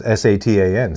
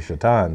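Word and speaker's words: Šatan: he's called Satan yeah it was SATA n Satan is what it looks like but is actually shat on so yeah now examine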